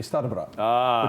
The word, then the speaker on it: Starybrat: In Polish, it'd be Starybrat, which means old brother.